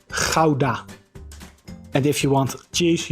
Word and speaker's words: Gouda: It is a common combination in other languages as well, for example in English as well, like the word out.